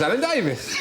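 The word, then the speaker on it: Alan Davies: Doesn't really rhyme with anything apart from Mavis. Unless you know someone called Mavis. Yes. It's Alan Davis.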